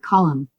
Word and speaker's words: column: N is not pronounced if it comes after M, like column.